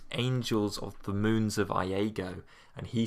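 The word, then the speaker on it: Iego: a planet that is not called Lego, even though my subtitles thought that it was. Yeah. It's called Iago, spelled with an I.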